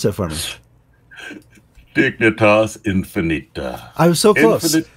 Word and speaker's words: Dignitas Infinita: And we're going to talk more about that document that's coming out of Rome, the Dignitas Infantia. George, I didn't take Latin. Pronounce that for me. Dignitas Infinita.